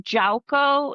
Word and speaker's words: Yauco: Well, they were originally from Jauco. It's spelled Yauco.